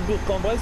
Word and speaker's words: Bourg-en-Bresse: Alors maintenant, je dis Bourg-en-Bresse parce que j'ai entendu les annonces et Dinman, elle le prononce comme ça.